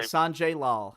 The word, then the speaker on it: Sanjay Lal: Is that how you pronounce his name? Sanjay Lal.